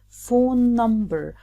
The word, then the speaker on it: phone number: In this case, we pronounce it phone number. We don't repeat both N's.